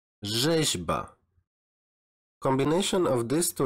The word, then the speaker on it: rzeźba: Next is the combination of R and Z, and you should pronounce it as żet, żet, like rzeźba, rzeźba.